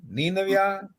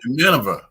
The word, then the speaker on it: Nineveh: yeah, He had Nineveh. How you yeah. pronounce that? Um, Nineveh.